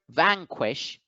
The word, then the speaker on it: vanquish: contempt another example vanquish in the word vanquish the apostrophe is over the first syllable so the first syllable van gets accented vanquish vanquish and finally